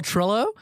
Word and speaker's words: Trillo: Um our guest today is uh filmmaker Paul Trillo. Am I pronouncing that right by the way?